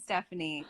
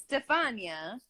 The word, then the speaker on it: Stefania: people butcher your name i could see people saying stephanie because they just stupid didn't say it but what they don't know how to like it's stefania i know it is beautifully